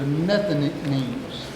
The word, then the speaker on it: Nethinims: There's a group of people called, I pronounce it this way, a group of people called the Nethinims.